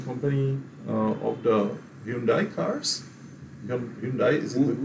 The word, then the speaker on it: Hyundai: Hyundai is the correct pronunciation.